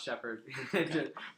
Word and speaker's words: Sheppard: Yeah, no, but just pronounce Sheppard.